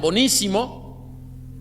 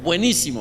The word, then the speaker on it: buenísimo: Algunas veces algunos lo pronuncian bonísimo, quizá ambos sean correctos. No, es buenísimo, ¿verdad?